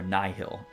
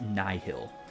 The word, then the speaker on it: Nihil: within the hill or nyhill I always pronounce that incorrectly but it is Nai Hill because of the word nihilistic cancels enemy combat related